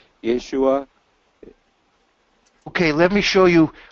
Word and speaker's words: Yeshua: word for salvation, and they pronounce it Yeshua without the hey.